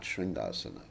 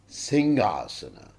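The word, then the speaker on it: सिंहासन: Like it's interesting, like what we cover the deities with is called the Singhasana, not Shringasana. Devotees, most of the times they mispronounce it, they say the Shringasana. It's Singhasana. It's the lion throne.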